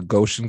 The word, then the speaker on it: Goshen: You know, after high school, after graduating, you went to Goshen College.